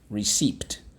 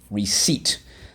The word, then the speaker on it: receipt: receipt okay re seeped receipt all right we use the a e that cannot be used at the end of a word let's go re seeped receipt notice that the p is silent we have one two